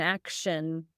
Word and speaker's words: action: Now, how do you pronounce the act when you say action? Action. Yeah, that TI becomes action.